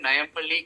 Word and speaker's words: Nayampally: Yeah, so my Insta ID is called Nayampalli Guitar. So Nayampalli is spelled Nayampally Guitar.